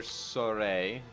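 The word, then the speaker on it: Sorey: Go to our main character, Soray. That's how you pronounce his name, even though we haven't heard it yet.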